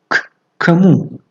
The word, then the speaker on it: к кому: اکنون к кому? К кому? А نزدیکی. کمو. کمو. یعنی هنگام تلفظ گویا که اولین ک را شنیدن دشوارتر است.